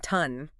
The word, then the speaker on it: TON: And just one last time for everyone listening, remember it's pronounced ton, like the weight, not to n ton.